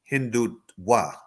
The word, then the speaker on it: Hindutva: Aki, this menace of Hindutva, actually the correct pronunciation is Hindutva.